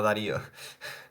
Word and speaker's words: Darío: en Portugal por ejemplo mi nombre no saben pronunciar bien solo me dicen Dario no Darío estoy acostumbrado No pasa